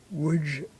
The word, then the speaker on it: Łódź: An Orthodox Jewish man from a photo in a book about the Łódź Ghetto. That's L-O-D-Z in Polish, pronounced Łódź.